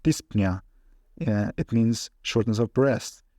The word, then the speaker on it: dyspnea: For example, this, which pronounced dyspnea, it means shortness of breath.